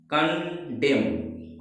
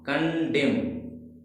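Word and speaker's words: condemn: क्या पढ़ेंगे इसे हम, कंडेम, कंडेम, कंडेम पढ़ेंगे।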